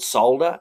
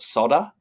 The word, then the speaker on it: solder: They don't call it solder either. They call it sodder. For some unknown reason, they leave L out of solder.